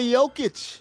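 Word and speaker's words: Jokić: Number 2, Nikola Jokic. They don't go hard J with the J's in the Serbian language.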